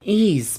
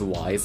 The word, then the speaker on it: Ys: one quickly review ease also before I get into it I'll probably up and pronounce the name as wise a couple of times so future dubs how